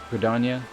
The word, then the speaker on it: Gridania: Quinator's what's the proper pronunciation again? Gridania?